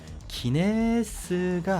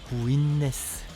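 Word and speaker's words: Guinness: 거에 치명적인 오류가 있는데요 기네스가 아니에요 본토에서는 그렇게 발음하지 않습니다 구인네스 구인네스 그 발음에 좀 주의해주세요 없어 보이잖아 스 아이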